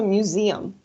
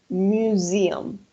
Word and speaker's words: museum: The pronunciation is museum. I'm gonna write here the pronunciation. Museum. Yes, that's the pronunciation. Museum. Sí, acuérdense que la S entre dos vocales va a sonar como una Z.